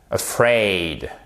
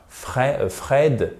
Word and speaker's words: afraid: Ici, c'est sur la seconde syllabe et en plus, vous avez une diphtongue, c'est-à-dire un double son. C'est pas Fred, c'est afraid, aid. D'accord? Un peu comme dans oseille en français.